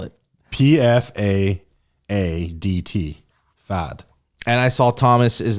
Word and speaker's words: Pfaadt: Spell it. Pfaadt. Fad.